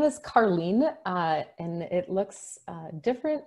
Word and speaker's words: Carleen: My name is Carleen, and it looks different. It sounds different than it's spelled. It's like a car leaning to the side.